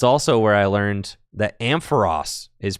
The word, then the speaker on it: Ampharos: That's also where I learned that Ampharos is pronounced Ampharos, not Ampharos. My whole life, I thought it was Ampharos. But it's actually Ampharos.